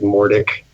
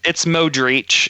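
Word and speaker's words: Modrić: to say something like Mordic, Luca, or somebody Mordic. Yeah, I'm gonna take Ryan. I want your ruling, but I mean, it's Modric. You just got two letters mixed up.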